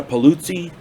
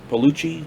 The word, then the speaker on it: Paluzzi: got robert horton richard jaigle ted gunther luciana paluzzi palucci p-l-p-a-l-u zzi i want to say her name